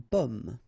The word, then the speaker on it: pomme: Okay, so you can see that I pronounce them a little bit, a little bit differently, but then well, be careful that in many cases people will pronounce them the same way, okay, because in that case normally it should be a bit lower, pomme, and then here more open, so pomme, okay.